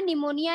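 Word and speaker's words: pneumonia: लिए ध्यान से देखना निमोनिया लिखा जाता है एंड से शरीर पीछे लेकिन पढ़ते यहां पर निमोनियां पड़ते हैं यहां पर साइलेंट रहता है और इस बैक्टीरिया का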